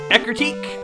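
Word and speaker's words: Ecruteak: radio tower route 35 national park 36 37 ecrutique that's how that's officially pronounced the tin and burn towers 3839 olivine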